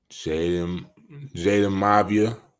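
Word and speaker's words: Jayden Maiava: Jaden Mavia.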